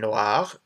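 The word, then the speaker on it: noire: Noir and noir, again, same pronunciation, but we add an extra E at the end, and this is black.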